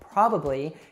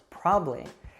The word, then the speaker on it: probably: probably heard some like how probably is usually pronounced probably interesting often becomes interesting